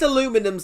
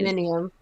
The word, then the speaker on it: aluminium: Like, at least aluminum's, like, consistent, like, you spell it aluminum.